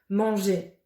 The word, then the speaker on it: manger: On ne prononce pas le R, mais l'association du E et du R font le son et. Dernier, premier, manger.